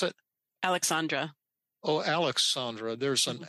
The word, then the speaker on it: Aleksandra: How do you pronounce it? Aleksandra.